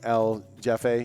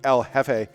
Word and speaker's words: jefe: name's jeff that when l jeffy you know yeah but uh it's properly pronounced which you've had multiple years of spanish uh it would be el jefe uh which means the boss in spanish um unless uh